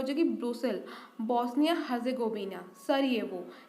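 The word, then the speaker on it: Sarajevo: Bosnia Herzegovina, सरिएवो। जे is silent hair. Bosnia Herzegovina, boss नहीं आए तो सारे लोग ये वो करने लगे, तो बॉस्निया एंड हर्जेगोविना की कैपिटल क्या हो जाएगी? सरिएवो।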